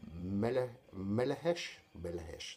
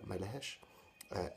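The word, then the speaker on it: Melechesh: So this is Melehesh, that's how it's pronounced. Melehesh, Sphinx, which was priced for the CD 12.5 euros.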